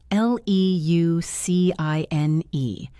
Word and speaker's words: leucine: It's spelled L E U C I N E and pronounced leucine.